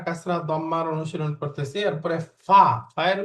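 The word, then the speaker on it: ف: এরপরে ফা, ফায়ের উচ্চারণ কি? ঠোঁট, অর্থাৎ উপরের জায়গা নিচের ঠোঁটের মাঝখানে লাগবে। উপরের দাঁত, দাঁতের আগা নিচের ঠোঁটের মাঝখানে।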